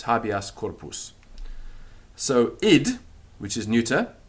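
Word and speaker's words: habeas corpus: still stays the same it's not happy as corporal that's wrong it's habias corpus so it which is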